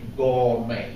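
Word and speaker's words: gourmet: magazine somebody threw away gour only it's spelled with a t but you say gour this is Hot Stuff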